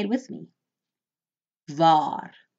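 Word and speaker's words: waar: remember in af freons when you see the letter W it is pronounced V just like the English letter V so put on your Africans hat and remember W is V VAR means where VAR notice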